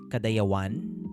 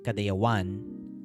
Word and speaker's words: Kadayawan: Like the way that you actually pronounce it in the language of where we took that word, you say it as Kadayawan, like with the emphasis on the one.